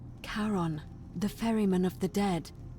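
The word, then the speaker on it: Charon: The name you heard wasn't Karen. It was C H. I knew it. O N. As in Karon, the fairyman of the dead.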